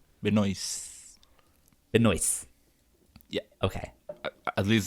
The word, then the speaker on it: Benoist: what would your first date be with Melissa Benoist? Is that how No, you say it? without the last T. Benoist.